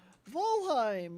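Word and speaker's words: Valheim: volheim yeah thank you brittany for helping me pronounce it again volheim yes falheim um but yeah uh i don't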